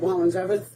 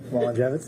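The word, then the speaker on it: Walengewicz: C, Z You asked How do you say it? Walengwicz Walengwicz, all right My big old Polish last name Um (Officer unintelligible) If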